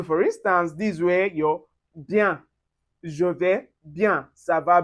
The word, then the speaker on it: bien: And then when you see ien or yen or e accent aigu as the acute accent with the en, we pronounce it as un. So for instance, this way your bien.